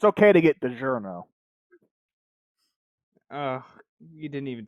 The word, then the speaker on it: DiGiorno: It's okay to get DiGiorno.